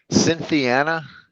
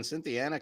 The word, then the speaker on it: Cynthiana: I have no clue Cynthiana is that what you guys how to pronounce this am I right on that cynthiana's right yeah okay you probably